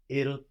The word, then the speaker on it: ils: can they are able IL IL good so we don't pronounce the S on the end now we have ILS